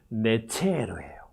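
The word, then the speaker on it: נצר: 발음은 베. 근데 이거는 이제 접속사니까 빼고, 빼면은 네체르예요.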